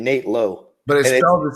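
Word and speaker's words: Nate Lowe: me about the pronunciation so it's branded low and then Nate Nate now you said it no it's it's Brandon Lau and Nate low but they don't say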